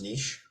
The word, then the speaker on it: Niegsch: The way that I've pronounced it my entire life is niche. Oh, Um, the actual German way, you kind of swallow the G, so it's somewhere in between niche and how you pronounced it.